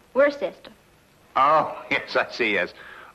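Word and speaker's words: Worcester: something else too doc but it's spelled w r c e s t e r wor sest oh yes I see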